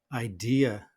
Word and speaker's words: idea: And then, of course, we have our unstressed syllable, very often pronounced with a schwa. And that's why the natural pronunciation of this word is idea.